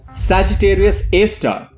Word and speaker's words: Sagittarius A*: sagittarius a asterisk often abbreviated to sjra asterix and pronounced sagittarius a star is a supermassive black